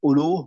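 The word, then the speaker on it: أولو: لياليني منكم, that minkum ulul ahlami wan nuha, that this is the fa'il, that the possessive, ulu means possessive, right? This is the example where the waw is silent. You just say ulu.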